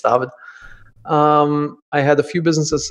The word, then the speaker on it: David: originally from Germany and brings up course you pronounce my my first name German everybody says David you know yeah these days I'm back in Germany it's tavad I had a few businesses in in Germany